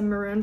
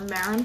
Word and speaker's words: marron: It's a maroon pie or marron pie. Are mini pies that have chestnut, which is moron. I guess it's a filling. Like moron. It's not how you spell it.